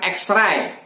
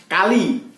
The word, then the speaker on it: X-ray: Berikutnya, huruf X mestinya diucapkan X-ray, tapi diucapkan kali atau sering juga menggunakan kata cross.